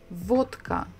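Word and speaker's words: водка: three letters easily and now we know that this book makes the sound so we call it where vodka vodka so pretty much the same vodka okay next letter is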